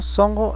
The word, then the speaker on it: Sunjo: Sunjo, corazón, se pronuncia como songo, etc.